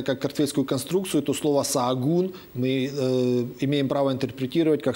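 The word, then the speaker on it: Sahagún: Называется этот город Саагун. Ача посередине в испанском языке не читается.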